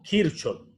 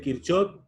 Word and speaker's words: Kirchhoff: aplicado a circuitos eléctricos, las llamadas leyes de Kirchhoff o Kirchhoff. En ambas formas se pronuncia y está correcto. Las leyes de Kirchhoff son dos igualdades que